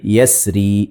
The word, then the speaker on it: يسر: Bakit daw pwedeng basahin o bigkasin ng murakkak itong kalima na ito? Dahil ang asal nito ay yasri, merong ya na mahdhuf o ghayru madhkur. Kaya pwedeng basahin ng wal-layli idha yasr, wal-layli idha yasr.